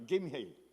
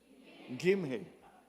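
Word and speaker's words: Gimhae: mga karatig na lugar tulad ng Ulsan at Jimhey Jimhey Jimhey Gimhey ha wala hindi pa namin nakikita sa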